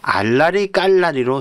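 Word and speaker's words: 알나리깔나리: 자, 이거는 어떻게 쓰냐면 알라리 깔라리로 수정해야 됩니다. 알. 그다음에 나 그니까 니언에다가 압니다. 예. 그냥 나이죠. 알 나리 깔나리. 우리가 발음은 알라리 깔라리 이렇게 되지만 표기는 알나리 깔나리.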